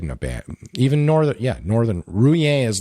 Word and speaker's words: Rouen: I always say it's not it's Rouen. English people always say Rouen, but it's actually just Rouen. One syllable, one fell swoop. Rouen.